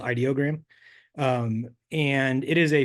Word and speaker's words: Ideogram: a lot some of these tools but um idiogram is this is my favorite image tool right now um so it's I I guess I went to their their Twitter it's actually pronounced ideogram um and it is a free image generation